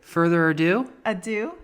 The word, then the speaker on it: ado: So without further ado. Further ado? Yeah, it's not or do, it's ado.